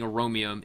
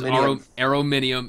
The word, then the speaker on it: Arominium: I'm also being notified by Arominium of Team Sith Evolve that I have been pronouncing his name wrong and saying Aromium. It is Arominium.